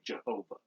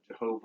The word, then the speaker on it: Jehovah: Sometimes people will say Jehovah, Jehovah or Yahweh, different pronunciations of the same four Hebrew characters.